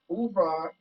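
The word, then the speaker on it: oeuvre: pronounced again i've been really working on my pronunciation with new words and ubra means the works of a painter composer or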